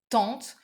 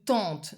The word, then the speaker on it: tante: Normal word would be oncle ou tante. Not easy either because they are both like using a nasal French sound.